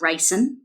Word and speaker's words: Reihsen: My last name is Reihsen, like the poison.